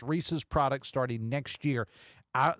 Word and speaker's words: Reese's: It's Reese's. It is not Reesei.